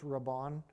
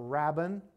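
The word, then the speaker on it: Rabban: the title Rabon and I don't know whether I'm pronouncing that right it's r a BB an so I think it's Rabon something like that or Rabin uh and what that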